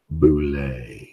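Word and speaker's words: bulette: the gaming industry and they can't even figure out it's boule and the sad thing about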